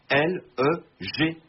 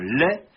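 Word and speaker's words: legs: l'on a désormais écrit l e G s vous devinez la suite la tendance contemporaine à prononcer la consonne finale des monosyllabes out but jointe à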